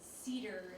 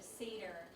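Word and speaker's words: Seder: remember this thing about the woman saying Cedar instead of Sedar and I picked on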